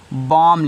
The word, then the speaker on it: bomb: तो देख रहे हो फिर यम के बाद यहाँ बी आ रहा है, तो बी क्या रहेगा, साइलेंट रहेगा। ऐसे आपने COEMB को कॉम लिखा, वैसे BOMB को क्या लिखोगे, बॉम लिखोगे।